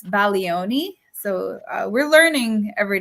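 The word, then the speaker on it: Bologna: country uh remember it's baloni so uh we're learning every day right so now Italian class uh the G you do not pronounce the G uh so uh we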